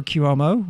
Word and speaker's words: Cuomo: ago yeah eight years ago I voted for cuomo who whose name I'm probably pronouncing it correctly because Hubble Hunter closer closer